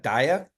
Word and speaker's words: DAIAA: we pronounce so uh we're pronouncing it Dia and so we can either call it the decentralized AI agent Alliance or Dia so you'll